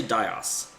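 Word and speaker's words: Dhaos: Some people said his name was like Dios, but it's spelled chaos with a D, so I'm going to say Dios.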